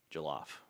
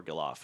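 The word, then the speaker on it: Gelof: an outfielder from Virginia, Jake Galof or Gilof, I don't remember how to pronounce it, but Jalof, I think. I think I think it's Jalof. But he was once a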